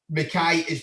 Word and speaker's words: McKay: Just Harvey McKay on Instagram.